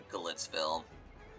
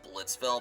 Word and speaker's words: Glitzville: Yep, welcome to Glitzville. Some other people would almost pronounce it as Blitzville, but no.